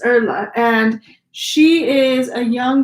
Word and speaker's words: Erla: It's spelled like Elda, but it's Erla.